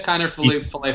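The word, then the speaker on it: Kiner-Falefa: Is that how you pronounce it? Yeah, Kiner Falefa.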